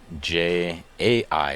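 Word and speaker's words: Jia: I had J-A-I. It's J-I-A. I was close. How do you pronounce it the same way?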